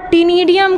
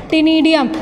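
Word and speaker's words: Ctenidium: आपका टीनिडियम कहलाता है। क्या कहलाएगा? बोलिए, टीनिडियम। सी इसमें साइलेंट होता है, टीनिडियम, जो कि रेस्पिरेशन में भी हेल्प करेगा और एक्सक्रीशन में भी हेल्प करेगा।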